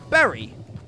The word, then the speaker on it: Bury: pr it spells bori b-u-r-y but it's pronounced berry b-e-r-r-y but it's just pronounced